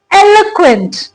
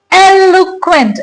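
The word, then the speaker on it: eloquent: पहले इस वर्ड की प्रोनाउंसिएशन क्या है? एलक्वेंट। इट्स एलुक्वेंट।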